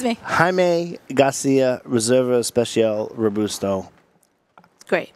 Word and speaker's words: Jaime: Nice pronunciation. Yes. See, yes, close. I'm there. I'm not there. Jaime.